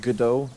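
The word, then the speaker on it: Godot: going to use gdau with God do which is apparently pronounced gdo I had no idea as the engine and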